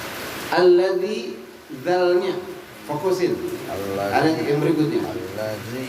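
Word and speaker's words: الذي: Alladzialnya fokusin allzi yang berikutnya alladzi dalalnya ditipisin gigit alladzi bukan alladzi jangan sampai enggak digigit jadi zai alladzi yang diminta yang paling tipis alladzi ada dua huruf yang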